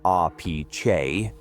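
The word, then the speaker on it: Appice: He formed the band Daringer, a powerhouse quartet with Vinnie Appis, pronounced RP Chay, on drums.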